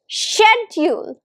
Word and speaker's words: schedule: It's pronounced as shedule. Shedule. Now this word has two syllables.